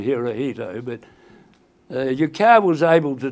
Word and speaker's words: Hirohito: So he was able to tell the emperor, and we had to pronounce the emperor's name as Hirohito. I think most of you will probably call him Hirohito, but Yukao was able